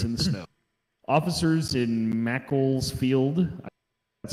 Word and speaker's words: Macclesfield: Officers in Macclesfield, that's how you say it, received a report